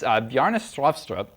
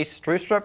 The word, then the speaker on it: Bjarne Stroustrup: It's Bjarne Stroustrup. I've been told that the way to pronounce this is to say Strustrup with a Norwegian accent while cramming a potato down your throat.